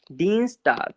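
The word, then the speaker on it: Dienstag: यहाँ पे आई के बाद ई आ रहा है तो ई ही साउंड ले लेंगे, देखो फिर से नियम आ गया अपना, फिर से रूल आ गया। इसको क्या बोलेंगे? डीन्सटाग।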